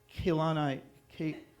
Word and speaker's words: Kehlani: Kehlani. All the E's are pronounced the same.